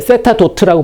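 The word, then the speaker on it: θ̇: d 세타 dt를 세타 도트라고 보통 그냥 씁니다. 세타 도트. 점 하나 찍는 거죠. 간단하게 쓰기 위해서 뉴턴이 쓴 노테이션이에요. 시간에 대한 1차 미분은 위에다 점 하나 찍는다. 세타 도트라고 읽어요. 따라 해볼까요?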